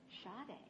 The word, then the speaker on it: Sade: It's pronounced Sade. S-A-D-E is Sade instead of Sadie.